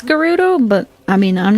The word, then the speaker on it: Gerudo: that out of curiosity i say it with a soft g garudo like gravy i always for the